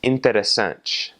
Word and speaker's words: interessante: So the word for interesting is interessante, and that last little syllable is N-T-E, interessante.